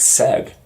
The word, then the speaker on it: said: letters uh or even a simple word like said uh said that a and the i in the middle looks it usually makes it like an i sound you know sight it